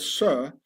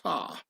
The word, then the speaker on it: sir: This is why in posh upper-class British the word sir has to be pronounced sar, and not sir, yes sir, to show one's solid origins.